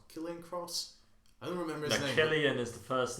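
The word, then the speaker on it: Cillian: yeah uh who's the head of aim yeah killian murphy that's uh that's the actor who plays scarecrow oh yeah i think it's spelled with a c but it's pronounced killian uh he's probably i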